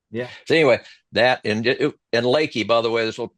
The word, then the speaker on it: Leakey: I thought it was leaky, but like a Well, leaky no, boat. Leaky. I think most people pronounce it leaky when you look at it, but down there, most of them say Lakey.